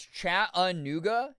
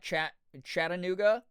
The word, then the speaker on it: Chattanooga: Um, it's Chattanooga. It's not Chat Chattanooga. Am I How's Wait, how is what I'm saying different? I feel like I was saying it that way.